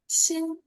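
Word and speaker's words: 心: This character is pronounced Xin.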